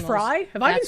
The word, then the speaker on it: Frey: motans and instead Frey actually pronounced Fry.